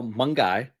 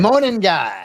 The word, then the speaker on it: Monangai: Just to recap, Kyle Monkey, right? Did I pronounce it right? Mon guy.